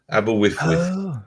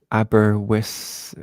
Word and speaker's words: Aberystwyth: Aberystwyth.